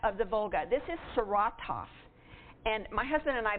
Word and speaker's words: Saratov: And when I first went there, I was pronouncing this Saratov, and the village out in the bird site as Frank, and they said 9. That is Saratov, and it is Frank, not Frank.